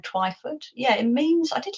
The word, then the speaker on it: Twyford: well her surname um I didn't realize that people would have a trouble pronouncing it I thought it would be quite easy but a lot even you know English people have called it twifford so it's not even an American thing well why is one of those vowels that you know you can give it different pronunciations so I mean I